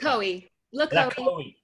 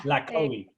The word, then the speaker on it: LaCohie: How do you pronounce it? LaCohie. Yeah. LaCohie.